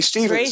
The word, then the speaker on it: Stevens: name first name's last name is it rhymes with beavens and it's my last name Stevens there you go oh